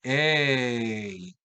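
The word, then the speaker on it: εἶ: Se pronunciaría simplemente ey. Observen el acento circunflejo que nos invita a nosotros a hacer como todo ese movimiento en la pronunciación.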